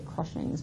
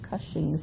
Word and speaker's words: Cushing's: pro-russians cuff shames syndrome I always want to throw an R in there and say crushing x' but Cushing's syndrome I said it right and this is